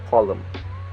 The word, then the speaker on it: column: rid of those and which usually pronounced with the m so like Dam autum him and column and the next is